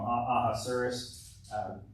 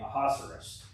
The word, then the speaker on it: Ahasuerus: You know, Ahasuerus. Neil pronounced it the other day, Ahasuerus, and I've been thinking, well, it sounds like rhinoceros. So Ahasuerus, rhinoceros. I think I can remember that if I can associate those.